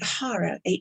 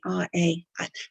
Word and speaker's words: hara: And the Hara, Hara. People used to think I was saying horror, and it's like, because of the accent. So I always spell it out, Hara, which is really your gut instincts, right?